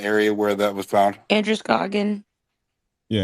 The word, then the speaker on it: Androscoggin: I forget can one of the locals say the name of the river in the area where that was found? Androscoggin. Yeah, Androscoggin.